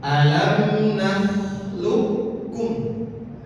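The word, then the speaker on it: ألم نخلقكم: Cara membacanya alam naklukkum. Bedakan qof dan kaf. Beda ya cara membacanya dan kaf. Tapi dalam konteks ini ketika kof bertemu dengan kaf maka seakan-akan qof-nya ini tidak ada langsung kaf.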